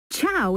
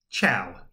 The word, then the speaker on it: ciao: have gathered for centuries tchau is how you say hi in Italian go ahead give it a try ciao perfect you'd fit right